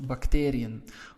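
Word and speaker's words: bacterie: the last e of bacterium why did we not add e n well bacteri so as you can see the stress is on the a part of bacterium that is why we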